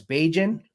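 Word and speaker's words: Bajan: is uh known as baijin and many people call um barbadians beijins throughout the island so it it sounds like cajun to me so i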